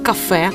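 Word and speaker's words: Kaffee: них і замовляти просто кафе анеко для австрійців наголос у цьому слові треба робити саме на другий склад то це може означати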